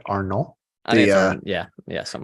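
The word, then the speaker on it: Arnault: Bernard Arnold was that you say it right Arnold the uh yeah yes I'm like the uh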